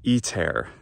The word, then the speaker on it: ITER: when it occurs so iter this project which how do we pronounce it in english i'm saying pronouncing it like the latin word it's meant to imitate well in english i've